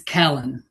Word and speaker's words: Callan: one of my favorite writers right now, James Callan, and really excited to hear him read. So I'm going to go ahead and pass it over to James. Thank you. That was very kind of you. It's Callan.